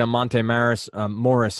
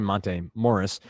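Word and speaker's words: Monte Morris: at right now what about somebody like a Monta marys Morris here to pronounce that correctly montane Morris is at 3,600 coming off a very solid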